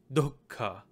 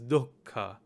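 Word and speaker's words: दुःख: get do who do who so the proper pronunciation of this in Sanskrit is dhoka dhoka in hindi we said we just say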